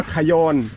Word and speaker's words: คยอน: งาม ๆ เอ ปลา กะยอน เ พี่ ปลา กะยอน อุ้ย เรา จะ ได้ เห็น ปลา กะยอน กะยอน ใช่ มั้ย จ๊ะ คยอน คยอ คยอน ครับ ออก เสียง ว่า คยอน เป็น ปลา ที่ ผม